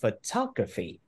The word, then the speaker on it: photography: Chữ số 4 thì mình đọc là photography. Photography, chứ không phải photography đâu ha. Không phải là graphy, mà là photography.